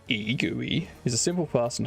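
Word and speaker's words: egui: Pronounced GUI is a simple, fast, and highly portable immediate mode GUI library for Rust.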